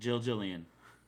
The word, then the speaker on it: Gillian: Jillian. It's Jill. Jill. It's pronounced as Jill, even though it's written Gillian.